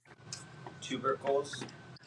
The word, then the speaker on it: tubercles: Tubercles.